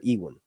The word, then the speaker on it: Ewan: How do you say it's Ewan or Ewan? Ewan. Sorry, looks like who? Matt Smith looks like Ewan Mitchell. Ewan. Damon and Aemond on the TV show. Yeah. Ewan. I said Ewan.